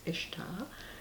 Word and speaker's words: Ishtar: it can be pronounced if starboard usually it's pronounced Ishtar and she was any miss Abbot a Mian